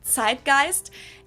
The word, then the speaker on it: Zeitgeist: some other languages too Americans usually say Zeitgeist in German we pronounce it tight gist and this consists of